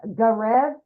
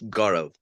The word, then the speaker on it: Gaurav: We got, is it Garev? Yeah, hi. Hello. How do you say your name, my friend? It's Gaurav.